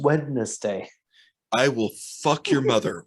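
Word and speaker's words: Wednezdai: No, it's pronounced Wednesday.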